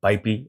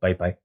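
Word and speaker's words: PyPI: Now, getting to the library itself, it's already uploaded to PyP or PyPy, depending on how you pronounce it.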